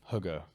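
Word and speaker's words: hygge: being able to relax there's a uh a word Hugga which is spelled h-y-g-g-e uh that means it's a Danish word that means a sense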